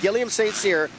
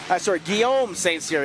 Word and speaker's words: Guillaume St. Cyr: But the guy, the underdog tonight, I'm telling you, the 55, Guillaume St. Cyr, Guillaume St. Cyr. I was saying it wrong. I get the French in there. I can't say it right.